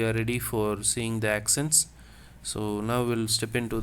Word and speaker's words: accents: The spelling here is ACCENTS. Les accents. So if you just observe, ACCEN is what I pronounce, okay? TNS I am not pronouncing.